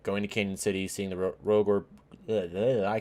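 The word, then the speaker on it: Cañon City: Next day we head up to, I think it's pronounced Canyon City. It's spelled Cannon City, but I think it's pronounced Canyon City.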